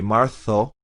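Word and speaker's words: marzo: flap it inero or in spain would be martho because it's a z the c and the z in spain are th marso abril mayo like an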